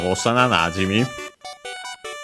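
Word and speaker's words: 幼馴染: The accent of Osana Najimi, being a compound, is on the na of Najimu, or Najimi in this case, so on the first more of the second word part of the compound, typical spot for that again.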